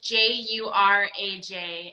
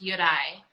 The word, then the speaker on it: Juraj: So it's Juraj, and our company's Czech, so it's pronounced Juraj. So the J would be like almost like a rolling R, and then the last J is silent.